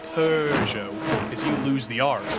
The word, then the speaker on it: Peugeot: he also won with the manufacturer that I pronounced Peugeot, and I'm sure you'll pronounce differently. Peugeot. Yeah. There's no R.